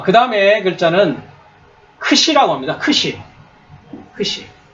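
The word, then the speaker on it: ξι: 제타 해가지고지 발음인데 그죠 이 크시는 키과 시옥이 두 가지 발음이납니다 그래서 크 시라고 합니다 크시 크시 예 그니까 한글로 얘기하면 뭐겠습니까 이중 자음이 되겠죠 그죠 자음이 두 개가 겹쳐져 있습니다 이렇게 예 그래서 크시 영어로는 이렇게 발음을 그래서 크스 크스 크스 이렇게 돼 있죠 그다음에이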